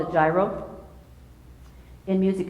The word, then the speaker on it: gyro: to it's called a gyro in music it's a soft G gyro gyro not like what's a Greek food so this is a